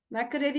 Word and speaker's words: Makerere: And he has completed this beautiful training from Makerere University. If I'm right, if I'm getting that right, sir. Am I pronouncing that right, Yes. sir? Yes. Makerere University?